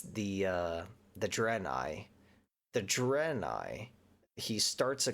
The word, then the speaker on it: Draenei: I feel like I keep saying their name wrong, but it's the Draenei.